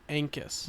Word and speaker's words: Ancus: How do you pronounce the last name? I have been pronouncing it Ancus.